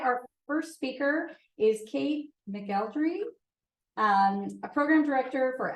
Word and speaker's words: McElderry: born but Kate melry is how it is pronounced in Baltimore County Maryland so that's what it is